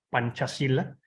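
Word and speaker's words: Pancasila: filosofía de estado que se llama panchacila se escribe pancacila pancacilla es una palabra compuesta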